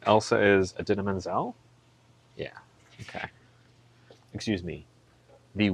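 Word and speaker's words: Idina Menzel: John Travolta was introducing Adina Menzel on stage, and he forgot how to say her name, and he said, "Introducing the wickedly talented Adele Dazeem."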